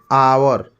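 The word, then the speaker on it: hour: इस पर देखेंगे तो आवर एच साइलेंट हो जाता है तो इसको आवर पढ़ते हैं तो अ आ ल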